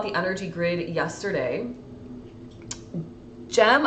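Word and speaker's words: JHM: energy grid yester yesterday gem I think is how you say your name j h m gem thank you for the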